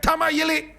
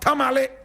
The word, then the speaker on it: Tamale: If the white man could not say Achim, but Akim, if he could not say Tamayili, but Tamale, my brother, my sister, how do you expect him to pronounce Chirichie?